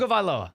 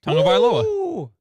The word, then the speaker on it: Tagovailoa: it is, we have no idea how to pronounce Tua's last name. Tagovailoa. Say it again, C-Cat. Yeah, Colin got it right. Tagovailoa.